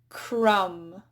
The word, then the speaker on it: crumb: Similarly, crumb, comb. Notice how that B is just really quiet if it's even there at all.